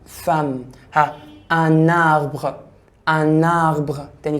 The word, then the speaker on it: femme: une femme، une دي الفيمينا، الفام e m بتنطق اكنها حرف الاي، فبقول ايه؟ femme.